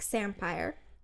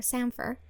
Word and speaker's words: samphire: Their signature gin's name, which is Mermaid Gin, is inspired by a local rock samphire, which I'm saying it wrong. It's not samphire, samphire, which is also known as sea fennel.